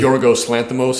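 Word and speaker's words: Yorgos Lanthimos: name um Lo Loos how do you say joros Lanos yes yes all of his movies are like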